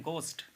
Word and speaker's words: ghost: आपको दिख रहा है, लेकिन इसको घोस्ट नहीं पढ़ते हैं, इसको पढ़ते हैं गोस्ट, गोस्ट पढ़ेंगे इसे, ठीक है, गोस्ट का मतलब भूत होता है।